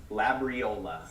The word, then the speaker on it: Labriola: so it was pretty cool go ahead and pronounce your last name the phonetic sure it's labriola actually a lot easier than it looks but